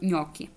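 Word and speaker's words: gnocchi: G і N воно воно як читається нькі нькі вот G і далі І тут ми будемо використовувати нунь бо це є множина бо це ми чуємо ньокі і закінчення та їньокі говориться їньокі От глі ну тобто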